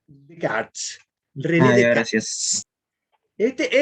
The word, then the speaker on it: Descartes: Así se escribe, pero se pronuncia Descartes.